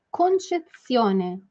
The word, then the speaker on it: concezione: Eu acho que desta vez uma pequena dificuldade de pronúncia foi a palavra concezione, né? Então você vai falar para mim somente ts, pense ts, ts, ts, ts, ts,